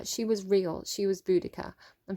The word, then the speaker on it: Boudica: Romans pronounced C's as hard K's, so Romans would have said Boudica. So I don't know, maybe Bodicea is the British way of pronouncing it.